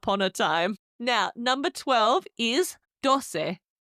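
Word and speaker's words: doce: Now number 12 is dose. D O C E dose. It's like dos with a little se on the end.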